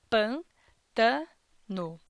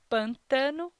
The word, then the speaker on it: pântano: Na palavra "pântano", podemos encontrar um total de três sílabas, pân-ta-no. Pronunciando novamente essa palavra, "pântano", podemos perceber que a sílaba dessa palavra que possui maior intensidade na pronúncia é a sílaba "pân". Por isso, podemos dizer que a sílaba tônica dessa palavra é a sílaba "pân". Deste modo, pronunciamos "pântano", e não "pantâno" ou "pantano".